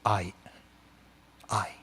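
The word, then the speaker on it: 愛: dictionary you're going to find this kanji and it's pronounced I I and so H okay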